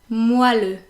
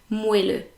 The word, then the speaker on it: moelleux: But everyone pronounces it moelleux, probably because of the way it is spelled, because if you read it as it's spelled, you would actually read moelleux. But no, it's meant to be moelleux.